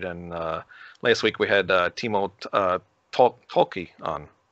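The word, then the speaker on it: Timo Tolkki: And last week we had Timo Tolki on, right? That's how you say his name. Yeah, Timo Tolki.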